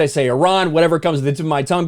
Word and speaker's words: Iran: the Iranian people but you're pronouncing a country's name wrong a country is named Iran not Iran please once and for all let's get this